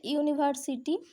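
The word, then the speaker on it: university: এখানে যেমন আছে ইউনিভার্সিটি, ইউনিভার্সিটি বসিয়েছি, যেহেতু এটা ফার্স্ট লেটার ভাওয়েল দিয়ে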